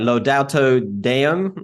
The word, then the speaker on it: Laudato Deum: launch of, I'm going to get this right, Laudato Deum. Is that correct? Did I get the pronunciation right?